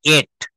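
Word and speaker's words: ate: এর past tense হবে এট। আমরা অনেকে কিন্তু ট বলি ডট বলবেন না প্লিজ এট আমি খেয়েছিলাম আই এট আমি ভাত খেয়েছিলাম আই এট রাইস আজকে থেকে সবাই একটা প্রতিজ্ঞা করবেন যতটুক শিখবেন সঠিক শিখবেন ভুল শিখে জীবনে কখনো লাভ হয় না এড বলবো না এটা এড বলতে হবে আমরা ভেজিটেবল বলি যদি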